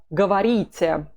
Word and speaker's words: говорите: Вы говорите. The pronunciation is important. Говорите. It's U in the first word, вы, and E in the second word.